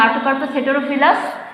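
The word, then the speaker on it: Artocarpus heterophyllus: যেমন ধান, দেখো আমি জাস্ট স্পেলিংটা ইয়েটা বলে দিই, উচ্চারণটা বলে দিই, প্রোনাউন্সিয়েশন। ওরাইজা sativa, ওরাইজা sativa. পাট হচ্ছে কোচোরাস ক্যাপসুলারিস। আম ম্যাঙ্গিফেরা ইন্ডিকা, কাঁঠাল আর্টোকার্পাস হেটেরোফিলাস।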